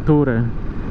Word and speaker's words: Tourer: Caramba, esse nome que se escreve T-O-R-E-R, que eu falo Tourer, a pronúncia é correta.